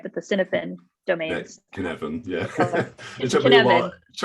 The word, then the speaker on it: Cynefin: Yeah, Cynefin, yeah.